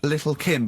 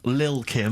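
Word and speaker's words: Lil' Kim: Steve I see there it's a track by Little Kim but how are you pronouncing it I'm pronouncing that correctly Lil Kim oh no T's involved and it's a jump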